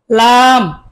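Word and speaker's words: لام: বলুন calf calf calf লাম আমার সাথে বলুন লাম পাতলা করে লাম লাম তারপরে মিম মিম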